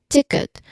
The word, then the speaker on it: ticket: Now, ticket has two distinct syllables. It should be two clear syllables, both with short e sounds. Now, the first syllable is tick. Tick, which ends with a clear key sound.